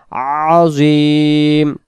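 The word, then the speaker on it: عظيم: সুবহানা রব্বিয়াল আযীম, আযীম, এটা আইন অক্ষর গলা চেপে হবে আযীম।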